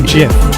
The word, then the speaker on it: GIF: Everyone knows it's a hard G. Otherwise, it would be spelled with a J, wouldn't it?